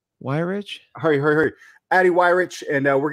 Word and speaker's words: Weyrich: Weyrich.